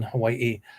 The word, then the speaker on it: Hawaii: uh and so now in certain schools in Hawaii Hawaii that's how it's pronounced part of the day is taught in